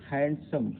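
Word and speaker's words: handsome: और हैंडसम, हैंडसम में भी यहाँ डी हैंडसम होता है, हैंडसम नहीं होता, हैंडसम उच्चारण देखिए इसका हैंडसम होता है, तो डी यहाँ साइलेंट है माने।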